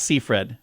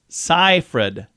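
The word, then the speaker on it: Seyfried: four today Amanda seed but apparently it's not seed or even sigfreed it's cyred oh yeah that's how you'd say it Martin scorsi that's how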